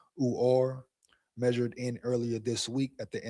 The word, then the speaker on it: Uar: Uhar Bernard, pronounced Uar, measured in earlier this week at the NFL's HBCU showcase at 6'4.5" 306 pounds, with 11-inch hands and almost 36-inch arms.